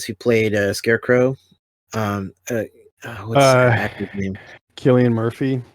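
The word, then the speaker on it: Cillian Murphy: played a scarecrow um killian murphy yes is that i think that's how you pronounce this yeah it is he he had that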